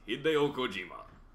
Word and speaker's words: Hideo Kojima: Pronounced Hideo Kojima.